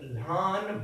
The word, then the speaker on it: lhan: See, vo, you have to pronounce it here, and tlo, vadlo, okay? Vadlo, bhav, bhav is brother, ani, ek lhan bhain asa.